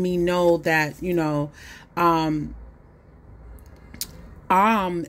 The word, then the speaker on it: Aum: know that, you know, AUM is really AUM, okay? That's how you enunciate it. And so the A in AUM, even though it's O-M the way we see it written, it's A-U-M, okay?